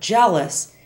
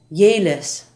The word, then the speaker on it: jealous: it is for example the English word jealous is often heard as yis by Spanish speakers JB is yob and